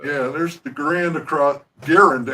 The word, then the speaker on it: Garand: see the M1, the Grand clips, because there's 5 to a clip there. So. Yeah, there's the Grand across... Garand, actually, it's Garand. I finally learned how the man pronounced his name Garand.